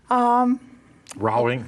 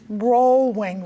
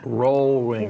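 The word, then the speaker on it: Rohlwing: Rowing Road? Rollwing Road. Rollwing. Rollwing. Okay, one more time. Rollwing. Okay. Just think OH is pronounced O.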